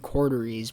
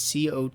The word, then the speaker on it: Coteries: So when I hear people say it, it sounds like they're saying Corderies, but it's Coteries of New York.